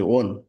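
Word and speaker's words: won: উইন মানে জয়লাভ করা, আই উইন আমি জিতি, আই ওন এখানে কিন্তু বানানের উচ্চারণ, ডাব্লু ও এন, ওন মানে জিতেছিলাম।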